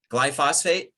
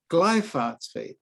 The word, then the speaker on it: glyphosate: glyphosphate was introduced into the food supply phosphate glyphosate glyphosphate ah glyphosate glyphosate my apologies glyphosate yeah yeah